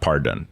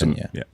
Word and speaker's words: Parton: Chihuahua would look amazing in one of these Doggie Partons. That's Oh, I'm sure my girlfriend will buy one of these. it's definitely Ton. It's not Done. It's her last name, not Pardon. But that was Parton, yeah.